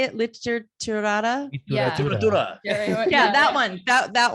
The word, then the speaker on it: literatura: Literatura. It's like literature, but in Spanish.